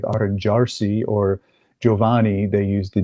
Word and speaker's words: arrangiarsi: somebody advised you, and I know I'm not pronouncing it right, Arrangiarsi. Why don't you explain people what Arrangiarsi is? Arrangiarsi.